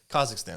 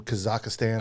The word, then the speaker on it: Kazakhstan: Russia and Belarus and Kazakhstan and Kazakhstan. That's how you're supposed to pronounce it. Kazakhstan. What were we calling it? Kazakhstan. Kazakhstan. That's how we pronounce it.